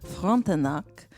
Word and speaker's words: Frontenac: We're starting off with the Fairmont Le Chateau Frontenac in Quebec City, Canada. I think that is the most proper pronunciation that I could possibly give with my terrible French accent.